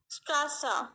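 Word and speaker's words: Straße: Strasa, here the alphabet is given A and it is used after it. Strasa, the pronunciation is going long. You can hear it. Strasa, Strasa.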